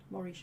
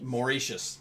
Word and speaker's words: Mauritius: So, I'm going to pronounce it the way I see it. It's Leourne. Uh, Brabbant. Mauricious. Mauritius.